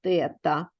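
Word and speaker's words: θ: через грецьку букву т пишеться як 0 наш і посерединці хвилька читається тета грецька буква тобто позначимо через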